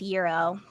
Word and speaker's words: gyro: will make a note Greek food short it's pronounced Euro Gyro all right give us give us your next